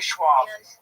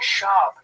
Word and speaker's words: Schaub: Don't say Schwab. I'm saying it wrong? Yes, it's Brendan Schaub.